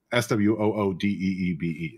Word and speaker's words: SWUDB: as a card database or whatever, it says SWOODEEBE. It spells it out phonetically.